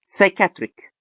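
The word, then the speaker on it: psychiatric: طيب لو جه الاس وراها بي أو البي بعدها اس، هنا في الحالة دي البي بتبقى سايلنت. تمام. يعني إيه؟ يعني بننطقها اس على طول. زي إيه مثلا؟ سايكاتريك.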